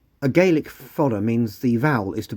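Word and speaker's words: fada: gaic it's called a fod I hope I pronounced that correctly spelled f a d a the D is soft a galic fod means the vowel is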